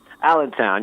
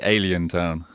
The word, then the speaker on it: Allentown: How do you pronounce it? You said Allentown. Allentown, yeah, that's right. Oh, because I want to look at it and say Alien Town.